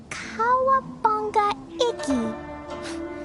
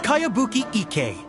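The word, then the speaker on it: Kayabuki Ikkei: By Kawabunga Iki. Yonia, this is a really strange name. Who's this Kawabunga? It's pronounced Kayabuki Ike.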